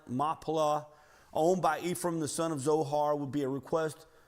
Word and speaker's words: Machpelah: This negotiation of the cave of, and I know it looks like it's spelled Machpelah, but in Hebrew, the C's are silent. Machpelah, owned by Ephraim, the